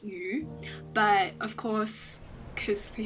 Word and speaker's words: 雨: This is my character Yu, which is meant to be the Chinese word for rain, which is pronounced Yu, but of course, because we have an anglicized